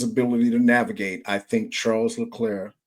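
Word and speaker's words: Leclerc: to navigate I think Charles lir charl lir pronounced properly I think he can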